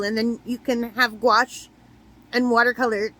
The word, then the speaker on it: gouache: Why can't I say that word? Gouache. Gouache. Yeah, it's like rhymes with squash.